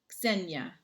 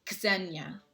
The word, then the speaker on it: Xenia: Xenia. I always remember the X sound. Xenia. That's how I remember how to pronounce it.